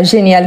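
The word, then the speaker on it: géniale: On est très habitué à génial comme ça. Sauf qu'ici, je parle des surprises. Donc il faut ajouter la marque du féminin. Par rapport à la prononciation. Ça ne change pas.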